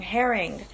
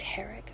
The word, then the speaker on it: Herrig: Herring. There's no N in my last name, guys. People always say Felice Herring. And there's no N. Felice Herrig. It's Herrig.